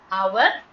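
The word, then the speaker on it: hour: அவர் ஆனர் ஹனஸ்ட் அதனால நம்மஹ மூணுலயும் silent ஆனதுனால அன் ஹவர் அன் ஆனர் அன் ஹனஸ்ட் அப்படின்னுதான் சொல்லப்படும்.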